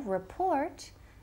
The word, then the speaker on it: report: And ojo, report tiene el acento, énfasis in the second syllable.